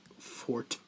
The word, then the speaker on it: forte: Clones are not really my forte. My forte. Don't make me come over this fucking table. Did you know that, quick side note, did you know that forte used to be pronounced fort?